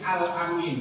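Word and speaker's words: al-Amin: yang pegang karena ini alamin masih mudah dia diberikan gelar alaminnya orang yang dipercaya tapi a-nya pendek alamin seorang yang bisa dipercaya tapi kalau Amin itu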